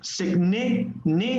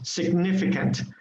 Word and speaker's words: significant: give you for example significant significant um we stress on the second vowel on the second yes on the second vowel so um significant should be stress significant then abnormally normally in